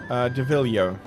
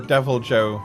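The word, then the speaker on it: Deviljho: So like a shrunken down Devilio. Or Devil Joe, I think, is the official English pronunciation.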